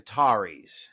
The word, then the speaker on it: Qatar: On to Qatar, the Qataris, but it is pronounced Qatar.